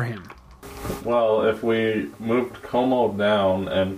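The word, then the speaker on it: Comeau: Como is pronounced Como.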